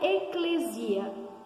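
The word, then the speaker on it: ἐκκλησία: a palavra igreja transferidos vem de um verbo grego é que se pronuncia eclésia o que significa eclésia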